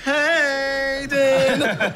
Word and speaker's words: Hayden: It's actually pronounced Hayden.